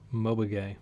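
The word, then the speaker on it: Mobage: they did with um Mobay which is how you pronounce um NG Moo's new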